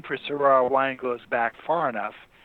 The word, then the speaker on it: Syrah: also known as Shiraz which is the kind of weird pronunciation it's actually Syrah which can be s-i-r-a-h